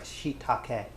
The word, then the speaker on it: shiitake: about a cup of, these are shiitake mushrooms. Oh, sorry, shiitake. As that would be pronounced.